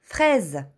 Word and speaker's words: fraise: Комбинацията от двете букви А и И прави звукът Е. Като например une fraise – ягода. Изговаряме отворено Е в думата. Fraise.